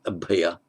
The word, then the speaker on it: abhaya: and India, abhaya, sometimes abhay. In modern Hindi it would be pronounced abhay, but abhaya, meaning without fear, fearless.